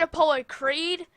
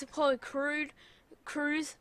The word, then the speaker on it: Apollo Crews: He actually said Apollo Creed. It's Apollo Crews. Oh, I just said it wrong.